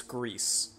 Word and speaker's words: GRIS: As far as I'm aware, it's GRIS, because that would be how it's pronounced in Spanish.